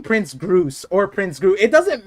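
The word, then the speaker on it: Grus: And then his name is pronounced Prince Groose with an S in the end.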